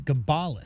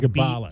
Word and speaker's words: Gabalis: Apparently it's Gabalis. So Gabalis. Ba is the enhanced part of that.